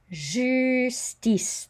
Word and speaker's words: justice: And the J is a J sound, like as in je. Justice. The I is an E. The C sounds like an S. And we don't pronounce, whoops, just going to try to, we don't pronounce that E.